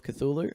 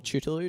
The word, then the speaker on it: Cthulhu: The Call of Cthulhu, or Cthulhu, depending how you pronounce it. I say Cthulhu.